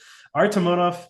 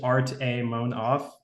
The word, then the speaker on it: Artamonov: So Artamonov is just art. It's just kind of separated. It's just Artamonov.